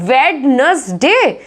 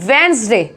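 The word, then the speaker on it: Wednesday: ये इसको क्या बोलते हैं? वेडनेसडे, वेडनेसडे, नो, इसको बोलते हैं वेंसडे, क्या बोलते हैं इसको?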